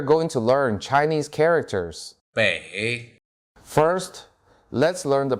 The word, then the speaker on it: 北: 北 First, let's learn the pronunciation of this Chinese character.